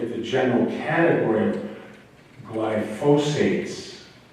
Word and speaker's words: glyphosate: But I think we want to look at the general category of glyphosates. I've been mispronouncing it all week long too, but glyphosate, G-L-Y-P-H-O-S-A-T-A, long O, long A.